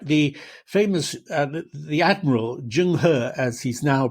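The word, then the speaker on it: Zheng He: The famous uh the admiral Jungh as he's now pronounced used to be Chenho, but uh but you know, we now transcribe Chinese differently.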